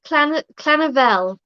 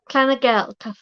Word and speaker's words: Llyfrgell: it's Clanavel. Clanavel. It's spelled Llyfrgell. It's like Clanavel or something like that.